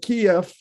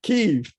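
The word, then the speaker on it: Kyiv: uh i i i i'm gonna have to change my pronunciation i've learned keeve uh so you i'm gonna make some blunders here because i've always been calling it kiev so it's kiev uh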